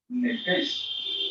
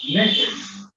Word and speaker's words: nefesh: En el hebreo, vida, que es la sangre, se pronuncia nefesh o nefesh, una tilde en la primera E, y significa alma.